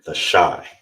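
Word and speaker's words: תשע: How you would say nine in Hebrew is tasha. Tasha. That's how you say nine.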